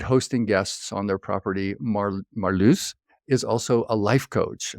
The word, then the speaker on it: Marloes: Our guest is Marloes. Am I pronouncing that right? Close enough, Marloes.